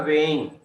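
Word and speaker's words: weighing: यहाँ पे जी साइलेंट होता है, ये जी साइलेंट होता है, वेइंग एविडेंस।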